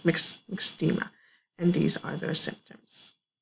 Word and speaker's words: myxedema: MYX, as it's pronounced, is myxedema.